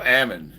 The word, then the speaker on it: Ammon: be anyways a my my name is pronounced like salmon you just take the S sound out so Ammon is that right Ammon